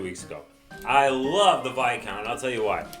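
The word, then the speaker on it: Viscount: go nuts because i i love and it's pronounced by count i just learned that like two weeks ago i love the vikon i'll tell you why it's a short range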